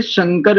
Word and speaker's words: शंकर: और बोले शंकर में तालव्य शकार होता है तब इसका अर्थ होता है कल्याण देने वाला या कल्याणकारी, कल्याणकारक। और इस तालव्य शकार के स्थान पर यदि दंत सकार लगा दे तो हो जाता है संकर।